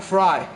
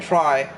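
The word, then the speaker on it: Frei: game here to play I think FY is the right pronunciation I'm not sure i' far as I've heard Fabian fry should be the pronunciation Rodriguez is going to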